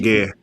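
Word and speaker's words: Guéhi: And Gehi, how does pronounce the captain name? Gehi? Gay. Yeah, Gay.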